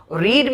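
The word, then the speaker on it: read: ए हटा दिया है रीड में से लिखते स्पेलिंग वही है लेकिन पढ़ते हैं इसको रेड और इसको रेड पढ़ा जाता है रीड रेड रेड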